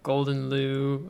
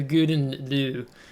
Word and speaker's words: Gouden Leeuw: so um i think other people call the ship the golden loo golden glue sorry things like that but it's i think it's the the the guden du is i think the correct pronunciation of this ship so um so yeah